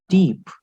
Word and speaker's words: type: french but uh sorry in english it is type it is type in english but in french we call it deep what do we pronounce